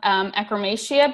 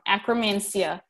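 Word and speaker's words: Akkermansia: them contain levels of Ekrem Asya bacteria which is a anti-inflammatory and metabolism metabolism boosting ingredient and a chrome and sorry I said it wrong Akram and Xia is a very good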